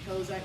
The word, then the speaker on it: Cossack: And then during that skills portion, you're going to be doing a Cossack squat or Kozak squat. I've heard it pronounced 2 different ways.